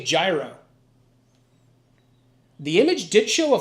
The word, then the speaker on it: gyro: I know it's pronounced euro, but I'm from Pennsylvania and we say gyro.